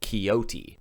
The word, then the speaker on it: coyote: as he describes it being pronounced in this part of the country kyoti george's first really nasty